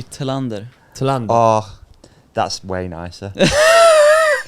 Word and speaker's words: Thelander: mountain bike royalty, Anton Thelander. Oh, did I say it right? Thelander. It's good. That's right, isn't it? Yeah, I think so. Good. Yeah. the Cleanlander. Cleanlander. In Swedish, it would be Thelander.